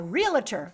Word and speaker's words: realtor: I'm gonna become a realtor I was corrected it's only two syllables not three cell syllables finally but so in